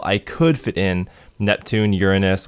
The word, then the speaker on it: Uranus: And at that scale, I could fit in Neptune, Uranus, which I pronounce Uranus to avoid those stupid jokes, but anyway, I'd be